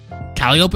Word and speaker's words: Calliope: Calliope is pronounced like Penelope.